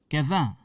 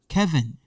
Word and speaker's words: Kevin: Kevin, Kevin. This part, English part. Kevin, Kevin. Okay? But in French, the pronunciation is different. In French, we say Kevin, Kevin.